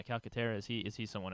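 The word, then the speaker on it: Calcaterra: the guy or or is caletera is that how you say it calcatera Calera yeah calcatera is he is he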